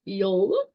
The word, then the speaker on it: Yule: So the Norse Yule, which, like I said before, pronounced Yule.